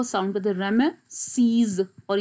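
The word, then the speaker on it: Ramesses: ये pronunciation blue में मैंने लिखी है, रे ए. नाउ ये जो इस तरह से दो इकट्ठे होते हैं इसको ए साउंड कहते हैं, और ये है श्वा यानी उल्टा ई, इसको आप अ साउंड करते, रेम सीज.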